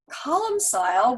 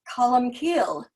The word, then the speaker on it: Columcille: into his life um columsile which is how most of us pronounce it here but is column keel in gaelic because it